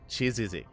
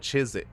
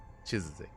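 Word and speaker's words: 치지직: Chizizik. Oh, so it's not Chizik. Okay. Chizizik.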